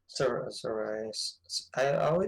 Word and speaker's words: Sarray: Sarray. I pronounce it Sarray, but Sarray.